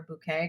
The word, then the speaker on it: Bucket: And her last name was, everyone kept calling her Bucket, but she was so set on everyone calling her Bouquet because it sounded way, way fancier.